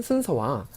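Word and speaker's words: ศูนย์: 네, 19페이지를 잠깐 보시면 쓰는 순서와 성조 표기가 있습니다.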